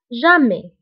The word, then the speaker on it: jamais: وانتبهوا بالنسبة لتوجور و jamais فكنكتبوهم بأس آخر الكلمة ولكنها لا تنطق. toujours jamais.